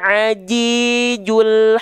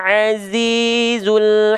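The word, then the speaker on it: العزيز: Bedakanlah pengucapan huruf jim dan zai. Jim tertahan suaranya dan zai lembut suaranya. Maka jangan sampai kita baca wa huwal ajijul hakim. Tapi wa huwal azizul hakim.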